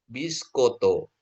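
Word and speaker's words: μπισκότο: Terus mi ketemu pi itu bacanya jadi B ya. Tobaloni ya. Tobaloni. Nah, terus kata ketiga toiskoto ya. Tobiskoto. Ah, jadi ini bukan bacanya ini kan apa namanya? Mi ini pi meni bukan jadi meni bacanya. Jadi dia jadi B.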